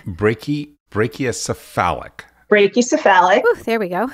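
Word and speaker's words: brachycephalic: to say this i think it's brachy brachiocephalic brachiocephalic there we go say that five times fast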